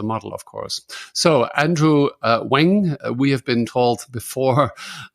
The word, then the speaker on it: Ng: so he suggested it's it's NG is pronounced Wang so he is the